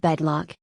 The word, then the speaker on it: Bedlock: there as expected of bedlock its name is rhyme with bedrock that just stay in